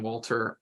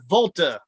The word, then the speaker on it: Walter: name that's my name you're not even saying it right it's Volta so Walter for